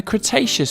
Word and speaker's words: Cretaceous: about a hundred million years ago in the cretaceous period kra tay chess so what have we learned we learned